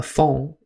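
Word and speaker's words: fonds: The word has French origin and is spelled f o n ds. A phone is similar to a collection but not made with intention.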